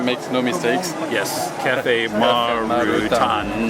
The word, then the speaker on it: Marutan: Yes, Cafe Marutan. Actually, Marutan is the Japanese pronunciation for Martin, which is my first name.